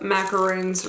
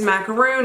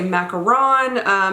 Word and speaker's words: macaron: a little stack of macaroons right there. I asked them how to pronounce it, and they said it is macaroon. Of course, if you're from France, they say it a little bit different, but they said in